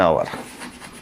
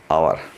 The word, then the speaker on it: hour: our show for o because H is silent h is muted here so we use we are using o so for that o of vowel which we have to use an hour and hour like that for example